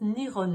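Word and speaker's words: 日本: En effet, Japon se prononce Nihon en japonais.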